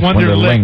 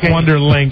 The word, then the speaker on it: Wonderlic: Wonderlic, not Wonderlink. It's Wonderlic.